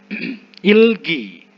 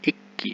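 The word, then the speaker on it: 읽기: Ilgi. Ikda. Kata dasarnya Ikda. Ikda. Kenapa saya bacanya Ilgi? Giok ketemu giok ya, jadi G. Ikki. Ilgi. Bukan Ikki ya.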